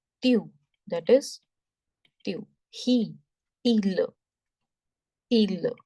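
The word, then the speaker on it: ils: And there is also this rule in French, when you add S to some word to make it plural, that S is silent. Okay, so the pronunciation of this is il and l.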